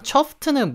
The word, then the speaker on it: chuffed: 그래서 발음을 할 때 이 chuffed라고가 있어가지고 chuffed, chuffed 이러시면 안 되고요. chuffed, chuffed, ft 이렇게 바로 해줘야 됩니다.